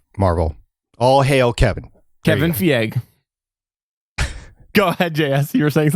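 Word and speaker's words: Feige: only concession it's kevin the yeah it's kevin VA you're saying it wrong pick pick what however it doesn't matter he's the main guy at Marvel all hail Kevin Kevin fee egg go ahead Jess you're safe let me know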